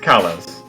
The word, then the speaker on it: Kalos: Also, it is pronounced Okay. Carlos. She was think It's Kalos.